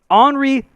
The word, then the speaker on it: Henri: Henri Saint-Armeur. Say it straight. No. You got to say it French no matter what.